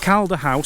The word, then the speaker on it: Calda House: But let's start with Calder House. So that's spelled C-A-L-D-A, if anyone wants to look the place up.